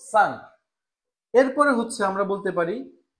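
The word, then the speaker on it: cinq: আমরা জানি যে ই এন এর উচ্চারণ হচ্ছে আ, আর এরপরে হচ্ছে কিউ, তার মানে হয়ে গেল সাংক।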